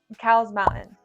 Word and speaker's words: Cowles Mountain: Well, it's named after a guy, and the guy went by Cole. His last name was Cole.